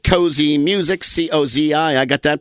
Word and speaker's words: Cozi: He created his own label called Cozy Music, C-O-Z-I. I got that pronounced properly, I think, Inc.